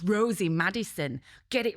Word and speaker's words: Rosie: And he and he was mispronouncing my name every time like. And I went, "No, it's Rosie."